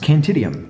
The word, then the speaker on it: Cantium: influence there uh and it's just pronounced cantium don't be afraid of it guys it's easy and for those of